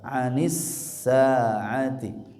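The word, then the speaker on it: عن الساعة: Anis sa'ati, anis sa'ati, ini dua-duanya huruf ain. Anis sa'ati, sa-nya 2 harokat.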